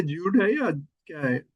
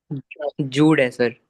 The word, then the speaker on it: Jude: ज्यूड है या क्या है? जूड है सर, ज्यूड JUDE ऑगस्टन। जूड।